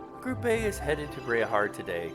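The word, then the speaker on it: Bareahard: Bereahard is how you pronounce that. I said Bearhard, it's Bereahard. I guess we should buy our tickets and line up for the Bereahard train then.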